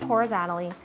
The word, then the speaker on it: horizontally: Now we keep the syllable. So in this case, vertically, this was canceled. But here, we kept it. But she canceled the T, which is fine.